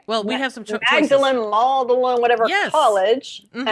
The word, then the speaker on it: Magdalen: no that's okay well we have some chocolate magdalene mauled alone whatever college and i can't remember